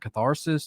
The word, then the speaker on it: Catharsis: Did any of these songs come over from your previous bands like Catharsis and Wildfire, maybe, possibly? So, and real fast, not to be a dick, it's pronounced catharsis. Or Catharsis? I'm sorry, Catharsis.